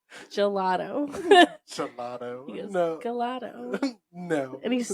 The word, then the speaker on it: gelato: Every time LJ pronounces uh gelato, he calls it galato. And I go, gelato.